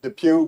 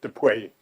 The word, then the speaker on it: Dupuy: So I pronounce it Depew, but my whole family pronounces it Depuy. Well, Why? well, there's the Pew in Buffalo, New York. Families from New York, from the Dutch area where it's Depew.